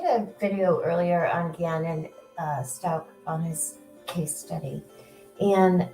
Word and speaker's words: Stauch: And some people call it Stauch, some people call it Stauch, but it's pronounced Stauch. I hate to use this example, but like as in stalking someone.